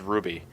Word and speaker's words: RWBY: I think it's pronounced Ruby.